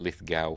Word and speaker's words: Lithgow: are poised to join uh John ligar America pronounce it Lithgow for some reason in much the same way